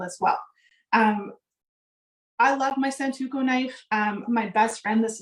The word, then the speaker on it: Santoku: So I think, again, depending on the size of the food that you're doing, switching to the Santoku, did I say it right? Yeah, Santoku.